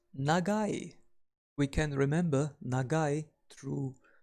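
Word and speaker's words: 長い: We pronounce long as nagai.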